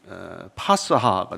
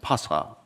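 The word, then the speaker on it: פסחא: 그걸 아람어로 발음하면은 파스하가 됩니다. 파스하.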